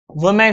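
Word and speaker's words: women: देखो याद रखना, इसे वुमेन पढ़ते हैं, प्रोनाउंसिएशन बहुत इंपॉर्टेंट, वुमेन। और अगर इसका हम प्लूरल करें तो इसे हम वीमेन पढ़ते हैं, वीमेन लिख रहा हूं, बहुत इंपॉर्टेंट है प्रोनाउंसिएशन।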